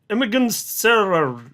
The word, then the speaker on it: Emin Gün Sirer: Emin Emin Emin Gün Emin Gün Sirer Nailed it. That's how you say his name now.